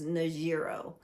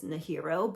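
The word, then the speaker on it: Nájera: And one of my most favorite little towns was Najiro. And maybe you don't pronounce the J, maybe it's Nahiro, but I really enjoyed Nahiro.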